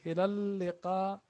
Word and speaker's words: إلى اللقاء: The shadda here. إلى اللقاء. إلى اللقاء. إلى اللقاء. This was supposed to be 3 lam. This lam, another lam. But this shadda represent the other lam.